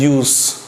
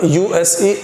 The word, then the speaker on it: use: Pronunciation as यूज, and when we यूज this word USE as a verb, then it will be pronounced as use.